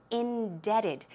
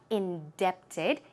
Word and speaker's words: indebted: While we're at it, indebted is I-N-D-E-B-T-E-D, but the pronunciation is indebted. The B here is silent, so keep that in mind. It is not indebted, it's indebted.